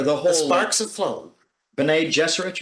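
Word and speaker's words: Bene Gesserit: whole Sparks of FL Ben jesser you pronounce it Benny Jess yeah Benny jesset their whole mystique and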